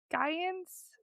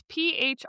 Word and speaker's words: Phrygians: The Gaians? It's Phrygians. Naturally, I want to say Gaians. P Phry Gians. G-I G-A-A-N-S. G-A-N-S. Giants. G-A-N-S. Hold, please. Phrygian. Phrygians.